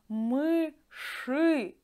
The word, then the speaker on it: мыши: And dear friends, do you hear how I pronounce мыши? We write ending e, but I pronounce it like ы, because sh is always hard, and yeah, we can't pronounce it soft.